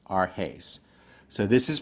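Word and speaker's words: ἀρχῆς: I would divide it arhes, arhes. So this is pronounced, the first word of this rule is pronounced emprosthen. The second word is pronounced arhes.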